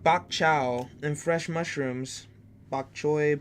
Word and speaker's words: bok choy: chow and fresh mushrooms bok choy bok chow keep laughing because I'm Gonna Keep mispronouncing It the water clinging clinging